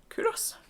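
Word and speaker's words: Culross: Scotland and Edinburgh um kurus you don't sound that L it's a silent L and I chose these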